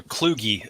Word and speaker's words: Kluge: The only thing I would correct is it's pronounced as John W. Kluge Fellowship. Okay. It's not intuitive, so I wouldn't expect you to know it.